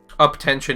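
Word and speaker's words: UP10TION: songs interesting interesting up tension is how you say it yeah there definitely I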